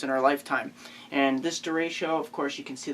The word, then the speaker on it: derecho: Many of you pronounce it many different ways, but derecho.